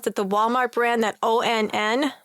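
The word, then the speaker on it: onn: do you pronounce that the Walmart brand that o NN it's pronounced on on it's o on okay they have 45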